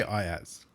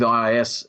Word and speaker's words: IaaS: How do you pronounce it, Kim? I say IaaS.